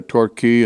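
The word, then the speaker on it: Torquay: Spanish and it mean it's pronounced key like the Florida keys but uh we went down to the Tor key in Southern England and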